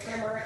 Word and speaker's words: primer: First of all, it's spelled primer, but you say it primer, and I have no idea why.